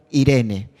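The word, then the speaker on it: εἰρήνη: La palabra paz que encontramos en Gálatas capítulo 5 y versículo 22 es la palabra griega eirene, o también se puede pronunciar como Irene.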